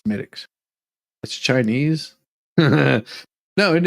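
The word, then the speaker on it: Smithwick's: English beer called uh smiix now it looks like it's spelled Smith Wix but it's smic that's Chinese no and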